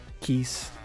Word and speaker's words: quis: I mean, you know, it's like pronounced as quiz. Basically, which is not even what it's saying. I mean, I think still Desmond's is the one that came most accurate if you're looking at what the word means. Keys, because I think that's how it's pronounced from Latin, but that's not what I would go for.